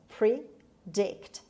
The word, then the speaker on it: predict: dragon predict predict predict it has two syllables predict and the stress is on d predict what dioma can't